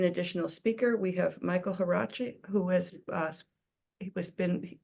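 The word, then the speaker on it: Huarachi: you hi yes uh my name is Michael harachi uh my first name is spelled m i CH a e l my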